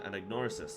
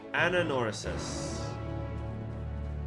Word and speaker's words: Anagnorisis: Let us return to Anagnorisis. Ananorisis. I think the G is silent.